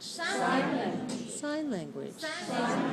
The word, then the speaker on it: sign language: Sign Language sign language this is a noun compound as the word sign that's a noun and language that's a noun the first noun is hi and the second is low sign language right okay so many